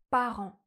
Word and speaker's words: parent: Mes parents travaillaient comme avocates pendant 8 ans.